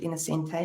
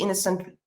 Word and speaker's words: Innocente: So that E, people want to put Innocente on. Some people read the Innocent, drop the E, call me Innocent, which is actually how you say my name.